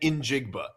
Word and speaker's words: Njigba: It's Jackson Smith and then Injigba.